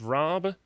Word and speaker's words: Raab: dominic raab in particular i think his name is pronounced raab yep are trying to